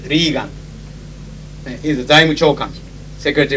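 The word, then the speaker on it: Regan: and Secretary of Treasury, whose name is spelled exactly the same and pronounced Reagan.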